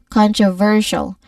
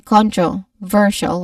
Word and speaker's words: controversial: we say it as controversial. We stress on ver the third syllable. Avoid saying controversial with equal stress on every syllable.